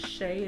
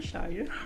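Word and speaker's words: Shya: So if anyone would like to volunteer, contact Miss Shay, and it's spelled S-H-Y-A. Please don't call her Shia.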